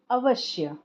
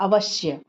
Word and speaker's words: अवश्य: ये मिला हुआ है इसका उच्चारण हम लोग कैसे करते हैं अवश्य अगर यह पूरा होता तो उसको हम लोग बोलते अवश लेकिन आधा स है तो क्या बोलेंगे अवश्य इसका आप उच्चारण करके